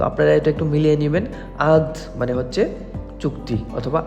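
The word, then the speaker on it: عقد: আগ আমাদের দুবাইতে বলে আদ মানে ক আর গো মানে একটু উচ্চারণটা একটু ভিন্ন বাট শব্দ কিন্তু একই তো আপনারা এটা একটু মিলিয়ে নিবেন আদ মানে হচ্ছে চুক্তি অথবা আদ মানে হচ্ছে চুক্তি তো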